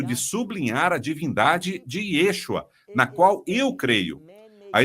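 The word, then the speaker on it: ישוע: E eles dizem Yahua, bem, temos um problema, não com a mensagem ou com a sua intenção, senão que Yahua não é hebraico, é uma criação humana para pronunciar esse nome e é incorreta, não é fiel ao que diz o texto, que você o chamará Yeshua.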